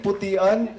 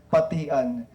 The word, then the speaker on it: Patian: So, dili Putian. So, ang among pag-pronounce sa miyaging Novena Misa kay Putian, ang sakto kay Patian.